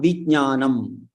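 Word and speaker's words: विज्ञानम्: So there, ja and nya are combined. Ja and nya. There's cha cha ja cha nya. So that ja is the third letter there, and nya is the last letter there. In that same chavarga, it is ja is the third one, and nya is the Anunasika one. So vijnanam, vijnanam. So there is slight pronunciation of ja also.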